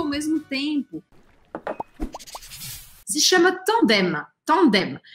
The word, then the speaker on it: tandem: uma coisa interessante, que como a palavra termina com M, eu pronuncio esse M. Eu não posso fazer, como em português, um som anasalado simplesmente. Eu não posso falar tandem. É tandem. E eu formo a letra M no final, ok?